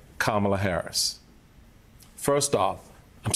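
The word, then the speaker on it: Kamala: his space stuck her hand out and said kamla Harris first off I'm saying my name so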